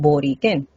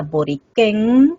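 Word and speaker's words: Borikén: Entonces pensamos que la pronunciación original era boriquén acá arriba y no boriquén en la lengua.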